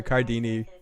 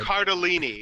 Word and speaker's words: Cardellini: You can have a life-size Linda Cardini doll. That is allowed. Cardellini.